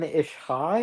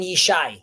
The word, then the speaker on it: Yishai: Wait, did you say Ishai, or do I... No, Yishai.